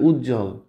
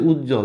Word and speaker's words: উজ্জ্বল: যে এখানে কি আছে উজ্জ্বল দেখো অলরেডি কিন্তু একটা যুক্তবর্ণ আছে এর সাথে ব ফালা বসছে যখন ব ফালা যুক্তবর্ণের সাথে থাকে এরকম তখন সেটা উচ্চারণ হয় না যেমন এখানে সান্ত্বনা সান্ত্বনা